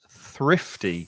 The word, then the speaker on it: thrifty: The pronunciation's quite difficult with, you have to put your tongue between your teeth to make the th sound, and then there's a f sound, so your top lip goes over your teeth to make the f sound.